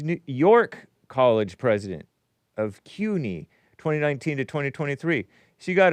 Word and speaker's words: CUNY: I thought it was SUNY, C-U-N-Y, but it's pronounced CUNY, City University of New York.